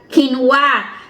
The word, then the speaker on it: quinoa: Nalilito kasi ako ng linggo at saka kinwa.